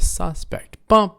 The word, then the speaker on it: suspect: this together here yeah everybody say a suspect right a suspect first syllable a suspect is a